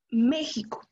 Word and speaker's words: México: ser la sílaba tónica un ejemplo méxico méxico no decimos méxico o méxico sale como aumentó la